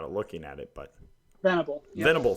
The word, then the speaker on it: Venable: Loretta and surprisingly will venerable I can't all like don't know why I can't say his name without a looking at it but Venable thank you I put an R in there Venable the vulnerable Will Venable